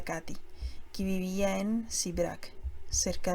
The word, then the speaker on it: Kate: como la que me contó mi tía Kate, pronunciada Katy, que vivía en Sibrac, cerca de Dombovar, en Hungría.